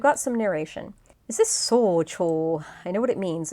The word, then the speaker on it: 早朝: Is this socho? I know what it means. It means early morning, but how do you pronounce the dang thing?